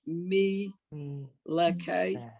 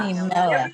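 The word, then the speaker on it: מלך: So the second word on line 9 would be me leke. No. Stop. Melech. Every syllable.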